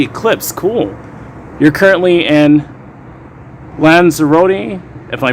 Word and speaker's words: Lanzarote: after going awesome man lanzarote thank you uh toilet brush salesman it's pronounced lands eroding thank you so